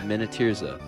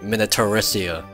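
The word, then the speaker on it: Minityrsa: Minotyrza. Minotyrza. The whole time I was pronouncing it Minotyrissia.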